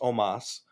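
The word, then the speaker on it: Omos: i found out his they were pronouncing it omas so i'll do my best to remember that it's pronounced omas but there were a couple times in that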